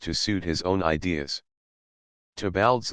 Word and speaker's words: Theobald: suit his own ideas toal's Lewis Theobald pronounced toal a scholar who had